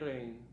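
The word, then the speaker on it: Rein: as I can see it, well, is Evgeny Rain. Well, it's kind of spelled like rain, yeah, but it means a different thing.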